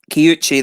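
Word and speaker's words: Kiuchi: How did you pronounce that? Kyuchi, they're the ones that do the Hitachino Nest beers.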